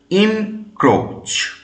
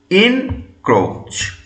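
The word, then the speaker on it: encroach: ই এন সি আর ও এ সি এইচ উচ্চারণ কি হবে ইন ক্রোচ ইন ক্রোচ আই এন কে আর ও এইচ সি এইচ ইন ক্রোচ এবং এটা সাধারণত ব্যবহার হয় কার পরে অন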